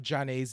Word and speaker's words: Zhané: cuz one it is the 30th anniversary of Jan's debut album pronounced Jan and um we were like Duos